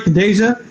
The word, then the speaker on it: Khadijah: This is Khadijah, and I'm saying it right, Khadijah?